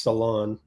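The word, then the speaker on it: Salaün: I just learned that it's pronounced Salon. Oh, turnover.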